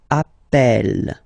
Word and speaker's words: appel: the pronunciation of uh you tend to pronounce it like e e really open that's the reason why you pronounce it Appel Appel okay Appel Appel